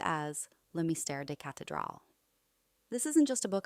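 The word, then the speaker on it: Le Mystère des Cathédrales: 1926 edition of The Mystery of the Cathedrals, pronounced as Le Mystère des Cathedrals.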